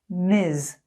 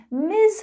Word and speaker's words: Ms.: chris miss miss miss miz notice that z z sound miz sounds like his ms miz miz okay